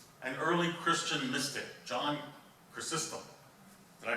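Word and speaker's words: Chrysostom: message he quotes an early Christian Mystic John cistem did I pronounce that right I did okay John cistem and in this quote the Pope says no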